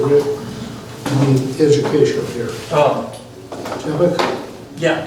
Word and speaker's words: Jabbok: Jabbok? Yeah, Jabbok. Okay. Yeah. And I don't know how to pronounce a lot of stuff, and that's Bible, so.